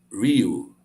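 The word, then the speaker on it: Riu: When you see an I, it's pronounced E. So this hotel has R-I-U, and U is U. So it's the Rio.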